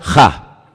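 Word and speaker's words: ה: En hebreo solamente hay un artículo, no hay él, no hay la, hay uno solo, se pronuncia ja, solamente hay uno.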